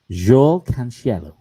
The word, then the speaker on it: João Cancelo: I think do you want me to pronounce it first so then you can? Okay. Yeah. João Cancelo. João Cancelo.